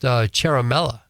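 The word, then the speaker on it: Ciaramella: a 33 year old guy named Eric it's pronounced Caramella and they believe that that well they say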